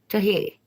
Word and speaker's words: Toji: Toji, is that how you say it? Toji or Tohi? Tohi.